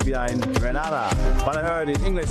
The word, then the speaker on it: Grenada: So, today, like we Germans say, we are in Grenada. But, I heard in English it's called Grenada. Say it right. Grenada. Say it right. Grenada.